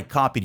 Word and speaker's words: copied: I copied, you copied, he copied, she copied, it copied, we copied, they copied. E perceba também a pronúncia. Copied. Copied. Eu nem falo esse D no final, não é copied, não.